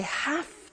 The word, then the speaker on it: have: computer at work now did you hear my pronunciation I have to notice I don't say V I say f have have it becomes have to have to becomes in pronunciation have to have to okay so I have to